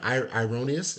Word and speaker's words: Irenaeus: Uh, Erroneous says, am I pronouncing his name? Ironius? I think that's correct. Say Jesus Irenaeus.